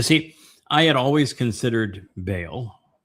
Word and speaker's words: Baal: You see, I had always considered Baal, Baal, as it's sometimes pronounced, which is Lord and Master, but also